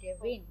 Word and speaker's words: gewinnt: Tennisspieler manchmal gewinnt গেভিন, এটা ভে না আপু, তাহলে ভয়ের মতো উচ্চারণ করবেন, গেভিন, gewinnt Mark ein Turnier, টুর্নিয়ার, aber meistens gewinnt nicht.